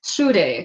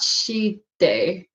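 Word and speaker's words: 朱泥: Yeah, I think it's SHU, not SHI. See, there you go. Shude, not Shide. Gosh, it sounds similar because Chinese and Japanese will pronounce SHI as Shude. So that's, I'm mixing up the spelling, but we got it. It's Shude.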